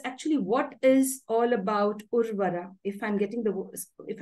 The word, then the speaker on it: Urvara: what is all about urvara if I'm getting the if I'm pronouncing it right am I right yes yes sh something about TDM yes you're pronouncing it absolutely right it's a Sanskrit word urvara uh it has come